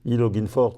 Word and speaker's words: E LOG'IN 4: de la communication, on a choisi ce nom, prononcé à l'anglaise parce que ça fait « Je me connecte à Thionville », e-Login For Thionville, E pour Europort, Log pour logistique, In